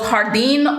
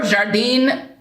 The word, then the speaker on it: Jardin: This one is called Jardin or Jardin, depending on, I suppose, where you are in the world is how you'll pronounce it.